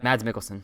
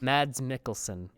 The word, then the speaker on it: Mads Mikkelsen: How do you pronounce his name? Because I saw Mads and I was like, okay. Mads Mikkelsen. Mads Mikkelsen.